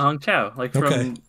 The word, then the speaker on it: Hong Chau: Well, it's spelled weirdly, and I wanted to make sure I wasn't mispronouncing Hong Chau. Yeah. Yeah, Hong Chau.